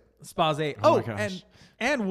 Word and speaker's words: Spayse: Yes, it's pronounced Space. Some people say Spacey. Some people say Spazze. What does Ronnie say? Spazze.